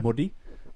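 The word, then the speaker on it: Māori: Modi, and that's Modi? you roll the R. I'm not gonna try and Modi. but pronounce it sounds more like a D.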